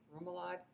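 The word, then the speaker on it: rémoulade: Remoulade.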